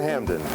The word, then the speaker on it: Hampden: John Hampden was one of the first members of Parliament to question taxation of the colonies. For unknown reasons, the P in Hampden has never been pronounced.